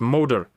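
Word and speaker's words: Magyar: Experts in Hungarian have written to me that in Hungarian all the stress is on the first syllable, so it's pronounced Moder.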